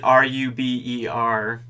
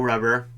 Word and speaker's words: ruber: of the most famous lines in tcap no ruber is i like to pronounce it he spells it r-u-b-e-r so no ruber or no rubber and the decoy whoever's playing the decoy is